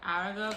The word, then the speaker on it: Aragog: 15 which is the aragog or like aragog actually it's how you say it it's the chapter when